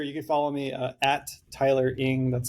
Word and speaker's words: Tyler Eng: You can follow me at Tyler Ing. That's spelled Tylereng.